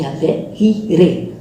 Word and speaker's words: Jireh: Então, se no hebraico não tem J, não tem como nós falarmos que nós estamos ali. Jireh, na verdade a pronúncia correta é Yahvé-Jireh, tá?